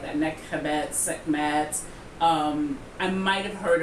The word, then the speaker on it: Nekhbet: Nekhbet.